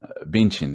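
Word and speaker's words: Bündchen: Billboards of say like Gisele Bundchen benchin they pronounce it or other just white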